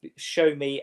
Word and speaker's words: Sowunmi: Show me as centre back. He is dangerous at set pieces. What's his name? Show me. It's spelt Sowunmi, Sownmi, but it's pronounced show me.